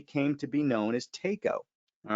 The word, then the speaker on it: Taco: of a taco, so it never occurred to anybody to pronounce it taco. It was Tako.